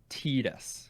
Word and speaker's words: Titus: One, you're not, but two, unfortunately, and I know that Jordan knows this, the proper pronunciation of his name is Titus.